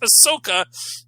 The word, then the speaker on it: Ahsoka: If you want it to be pronounced Ahsoka, then you don't put an H in it.